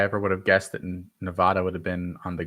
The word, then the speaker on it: Nevada: Nevada, excuse me, I mispronounced it.